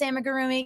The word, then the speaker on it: amigurumi: make these amigurumi first of all I can't pronounce amigurumi yes it's amigurumi I can never pronounce I